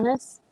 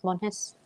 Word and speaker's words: Monjes: Mones? That's Monjes? Dos Mones? That's Monjes? Yeah. Yeah. The J is like an H. It's Monjes.